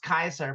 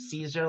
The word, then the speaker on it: Caesar: In Roman, in Latin, in Rome, they did not pronounce soft C's. It was always a hard C.